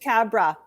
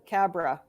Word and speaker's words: Khabra: who is and I'd like you to pronounce that last name for me who are you it's just Cabra Cabra God who is a bit cobra oh gosh